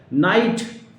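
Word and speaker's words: knight: To keep remember that if there is एन and before opposite to एन, या एन से पहले अगर के दिया होता है तो कहीं पर भी के का प्रोनाउंसिएशन नहीं किया जाता, उसको, उस लेटर को हम नहीं पढ़ते हैं या ड्रॉप कर देते हैं, राइट। नाइट, KNIGST, नाइट means आदाब।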